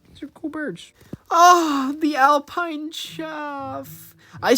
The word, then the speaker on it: chough: Some just have different pronunciations of names. I say chough, but I think a lot of other people say chow.